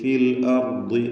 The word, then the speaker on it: في الأرض: വലാ തബ്ഗിൽ ഫസാദ ഫിൽ അർദ്, ഫിൽ അർദ് റാഇന് തഫ്ഖീം, ضادനും കുറഞ്ഞ തഫ്ഖീം കസ്റായതുകൊണ്ട്. വഖഫ് ചെയ്യുമ്പോൾ 2 സുക്കൂനാണ്. അപ്പോൾ ഫിൽ അർദ്, ഫിൽ അർദ്, അർദ് ضادന്റെ ഉച്ചാരണം ഇങ്ങനെ റഖാവത്തുള്ളത് കൊണ്ട് ആ ശബ്ദം ഇങ്ങനെ അല്പം എന്നിങ്ങനെ ഫിൽ അർദ് എന്ന് കേൾപ്പിച്ചുകൊണ്ട്, അർദ് എന്ന് ഖൽഖലയുടെ അവസ്ഥ വരരുത്, ശബ്ദം അങ്ങനെ ചലിക്കാതെ ഫിൽ അർദ് എന്ന് ഉച്ചരിക്കുക.